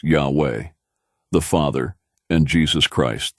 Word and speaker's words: Yahweh: God's name, pronounced Yahweh, the Father, and Jesus Christ, the Son.